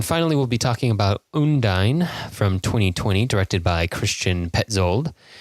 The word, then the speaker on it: Undine: And I think last time I said that Undine was we're gonna pronounce it every single way, but in the film they pronounce it Undine.